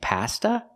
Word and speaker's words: pasta: long e Pizza and Pasta we don't say pasta not in America we say pasta use the short a sound like hot and stop pa pasta so the words are